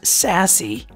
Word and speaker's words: SASE: sassy stands for secure access service edge it's pronounced sassy it's a new buzzword that was introduced by